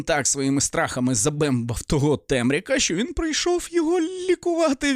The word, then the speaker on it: Темряк: прийде Не темрява А темряк я думав що буде наголос темряк а він темряк а так то думав